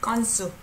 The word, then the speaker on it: 건수: We also pronounce this as double G, 건수.